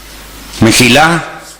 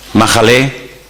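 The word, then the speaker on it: מחלה: Mejilá, perdón, Majalé, enfermedad. Ahora, estas dos palabras que ustedes tienen ahí, Mejilá y Majalé, en hebreo se escriben sin vocales.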